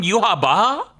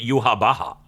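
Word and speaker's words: Yhwach: I thought they were going for a Yahweh type name with the way it's spelt, but then they call him Yuha Baha?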